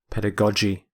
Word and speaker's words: pedagogy: The first G is hard, G. The second G is soft, J. Pedagogy.